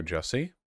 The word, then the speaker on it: Jussie: beloved son and brother jesse again rhymes with sassy was the victim of